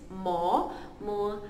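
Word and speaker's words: momuhau: December dalam bahasa Kadaz and Dusun adalah Mo-mu-hau. M-O-mo. M-U-mu. H-A-U-hau. Mo-mu-hau. Okay, December in Kadaz and Dusun is Mo-mu-hau.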